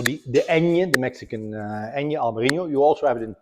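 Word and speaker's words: Albariño: So the Añe, the Mexican Añe, Albarino. You also have it in Portugal, where it's called also Albarino, but it's spelled Nho at the end.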